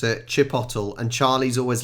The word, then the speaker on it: chipotle: this uh jalapeno jalapeno right used to make chipolates is that what that says Chipotle no honestly that is how I would pronounce it Chipotle and Charlie's always like it's Chipotle you sure